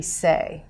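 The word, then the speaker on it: 四: don't like that, because when we say 4 in Chinese, it's pronounced say, and when we say death in Chinese, it's also pronounced say.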